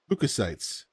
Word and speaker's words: leukocytes: How to pronounce Leukocytes. Leukocytes.